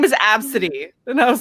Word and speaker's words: Abcde: Well, that's like the person that named their daughter Absidy and then she couldn't get her daughter's passport approved because it's spelled ABCDE.